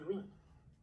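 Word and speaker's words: wring: 动词蠕动 ring w-r-i-n-g w 不发音，所以是 ring。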